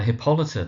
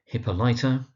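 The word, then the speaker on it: Hippolyta: Now where you find mispronunciations you often find things like hippolyer hippoliter that kind of idea but it's hippolita emphasis on the second syllable.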